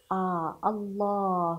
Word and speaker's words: الله: الله الله الله الله نحن نفتح الله كانك كاننا ننطق الف لكن هل هنا موجود الف موجود في البدايه ونحن نقراه الله الالف اللي في الاخير